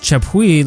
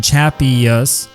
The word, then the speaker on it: Chappuis: Chappuis, not pronounced Chappuis like in French, but good old American Chappuis, was an incredible player.